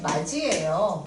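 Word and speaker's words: 맏이: 제가 우리 집 마지예요. 마지. 이거 어떻게 발음되냐면 디귿과 이모음이 만났네.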